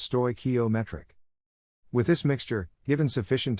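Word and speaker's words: stoichiometric: this chemically correct combination of stochiometric mixture pronounced sto ometric with this mixture given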